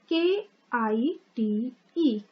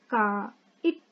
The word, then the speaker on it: kite: K-I-T-E. Kite. K-I-T-E. Kite. E is silent.